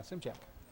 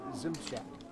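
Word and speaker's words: Szymczak: I'm just going to take a stab at smizak yeah yeah it's well it's gymsic yeah Zim check yeah s-z-y-mcza Zim Shack okay I'll take your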